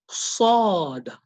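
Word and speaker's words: صاد: So this sound is made by puckering the lips together, and your teeth actually touch the sides. Your tongue actually touch the sides of your teeth when you're pronouncing this.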